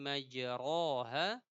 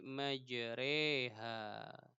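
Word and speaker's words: مجراها: di surah Hud ya Bismillahi majroha dibaca dengan Bismillahi majreha begitu Bismillahi majreha ini surah hud ayat 41 Imam syu'bah malah kebalikannya Imam syukbah malah membaca Bismillahi majroha r-nya tetap tidak tidak mereng cara membacanya tidak imalah Adapun kalau kita nanti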